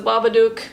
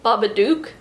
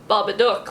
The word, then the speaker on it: Babadook: characters keep pronouncing it baba duke i always thought it was supposed to be like babadook like a book because he comes from